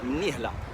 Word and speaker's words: Mnihla: J'ai eu mal à la prononcer celle-là. Mnihla. Mnihla. Parce qu'il y a un yé devant le hé. Donc Mnihla. La ville du président.